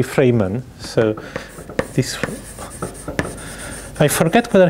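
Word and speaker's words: Freiman: Well, he's still alive, and I think the original pronunciation is really Freeman. So this, I forget whether he was in Moscow or St. Petersburg, 1966. So Grigory Freeman.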